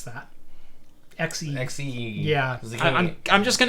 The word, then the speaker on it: Xe: Besides the fact that it's pronounced XE and not Z.